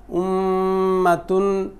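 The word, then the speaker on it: أُمَّةٌ: ওয়াজিব গুণাটা কীভাবে হবে, উম উম্মা, উম্মাতুন, উম্মাতুন, মিম্মান, এরকম। হ্যাঁ, এরকম। আর নুটা তো এইখানে আসলোই, তাহলে তানু যাব তান তান, একদম নাকটাকে ভরে, আপনি নাকটাকে ভরে আপনি গুন্ডাটা করেন, দেখবেন আপনি নিজেও যদি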